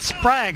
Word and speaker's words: Sprague: By the way, that Sprague is the way you pronounce that name, Robbie.